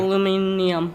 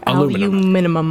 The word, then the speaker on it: aluminium: Well, apparently there is an extra I that we don't pronounce, that they actually pronounce everything. Okay, pull it up. Yeah. Cheyenne. Aluminium. Aluminum.